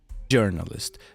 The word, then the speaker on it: journalist: We say j journalist. But that's French's fault. Cool. Which So you actually do pronounce the J like that in journalist.